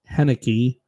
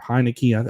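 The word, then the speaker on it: Heinicke: and interception and Taylor heniki or hanek I think it's pronounced haneke but he well he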